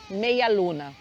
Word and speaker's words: media luna: lunas ó Méia Luna se escreve assim com D mas aqui mesmo você vai escutar meia Luna como se esse D não existisse tá então é só